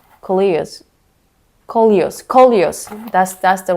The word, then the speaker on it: Coleus: But for now, it's time to repot, especially the Kios. Did I pronounce that right? Kios. Kolios.